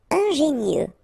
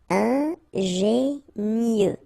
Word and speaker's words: ingénieux: Ingénieux. Final X not pronounced, so I-E-U, mieux. Ingénieux.